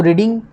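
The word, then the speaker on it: read: यूज़ करनी है तो रीडिंग, तो इसकी जो फर्स्ट फॉर्म है वो रीड है, रीड, सेकंड फॉर्म रेड और थर्ड फॉर्म भी रेड है, स्पेलिंग इसके सेम रहेंगे। तो पढ़ा इसको रेड जाएगा, रेड।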